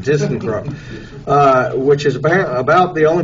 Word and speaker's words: ThyssenKrupp: So we have a representative is, how did I pronounce it? ThyssenKrupp. See, I just said Tyson. ThyssenKrupp.